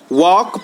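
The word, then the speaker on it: walk: यानी के साइलेंट है वक पढ़ते हैं यानी एल साइलेंट है अवर पढ़ते हैं यानी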